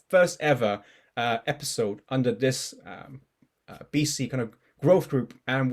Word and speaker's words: BESEA: ever pilot episode of BC.cc. I actually didn't know how to pronounce BESEA, so it's good to know it's BC. I didn't know if it was BESEA or something.